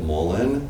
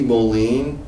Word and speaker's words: mullein: yeah so Mullen and is it Mullen or Molen I've always pronounced it Mullen it could be Molen it's spelled m u l l e i n and it is a